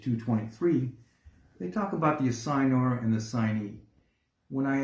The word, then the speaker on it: assignor: You can pronounce it assignee, assignor. But the correct way is assigner.